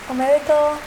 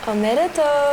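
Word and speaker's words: おめでとう: Omedetou. Omedetou.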